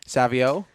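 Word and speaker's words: Savoie: How do you pronounce that, Rendo? Savio.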